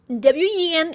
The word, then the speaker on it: wen: WEN is pronounced as wen.